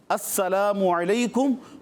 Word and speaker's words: السلام علیکم: سلام کریں گے، اور سلام درست جو انداز ہے، جو درست تلفظ ہے، اسی میں کریں گے۔ السلام علیکم، السلام نہیں، السلام علیکم ورحمۃ اللہ وبرکاتہ۔ جو بندہ السلام علیکم کہے